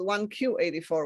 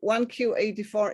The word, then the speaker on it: 1Q84: And in Japanese, the word 9 is in fact pronounced Q. So if you say 1Q84 in Japan, it also sounds like 1984.